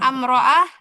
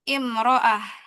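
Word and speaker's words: امرأة: Perempuan atau istri nih imroah itu juga bacanya kasrah bukan amroah. Bukan umroah. Tapi imroah.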